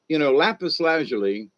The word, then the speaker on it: lapis lazuli: But lapis lazuli, it there's a lot of people who mispronounce it, but that's what I've always heard it.